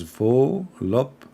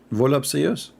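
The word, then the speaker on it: voluptuous: It's pronounced as volupcious. Ah, volupcious. That's it? Volupcious? Are you sure? Volup. So the T is not there?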